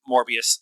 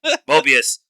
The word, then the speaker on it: Mobius: um it's also uh Hunter 17 B15 and morbius mor Mobius Mo I said it wrong once Mobius um going to the judges um Council uh